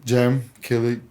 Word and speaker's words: Cem Kilic: who you are just a little introduction i'm jim kelly i come i'm from turkey i was born